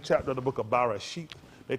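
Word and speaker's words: בראשית: The correct enunciation, if I be correct, or close enunciation, let me say that because I might not be pronouncing it exact, but it's Bereshit. Bereshit.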